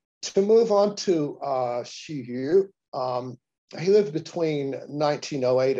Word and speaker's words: Hsu Yu: the nobel prize to move on to uh shihyu um he lived between 1908 and 1980. he himself pronounced his name shiyu uh the shinhwa siddian and also a number